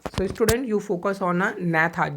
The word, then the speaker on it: Agnatha: So student you focus on a gnatha, G-N-A-T-H. Here G is the silent. So when you pronunciate then you never to pronunciate G word.